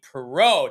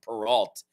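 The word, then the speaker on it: Perrault: believe that because Gabe perau Tommy which I think that's the first time I've actually pronounced his name right because I've just been saying peralt all this time I I saw he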